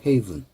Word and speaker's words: haven: 요건 haven이에요. 발음 기호가 heaven. 그래서 피난처라는 얘기입니다. 그래서 요거 읽으실 때 요거하고 비슷해서 학생들 heaven 하는데 그렇게 읽지 마시고 요것은 haven. 요것은 heaven.